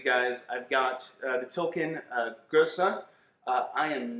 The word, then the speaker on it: gueuze: Garrett Oliver says that it's sort of like sneezing with the accent on the first syllable, so it's like Gueuze.